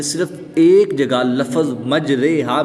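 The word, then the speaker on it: مجريها: रिवायत हफज़ के मुताबिक सारे कुरान में सिर्फ एक जगह लफज़ मजरेहा में इमाला होता है। मजरेहा की राह को कतरे सितारे हमारे प्यारे की राह की तरह पढ़ेंगे। इसके जब हिज्जे करेंगे तो इस तरह करेंगे।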